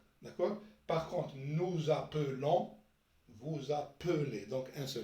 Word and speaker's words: appelez: ومن بعد vous appelez. donc nous appelez. vous appelez. donc هنايا يكون un seul L. كي نطقوه E يكون un seul L.